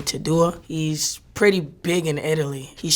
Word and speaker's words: Tedua: There was this Italian artist, I think you pronounce his name Tadua.